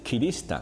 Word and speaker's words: 吉利支丹: 这个吉利支丹或者是切支丹，日文的读音竟是 Kiristan，其实就是基督宗教的意思。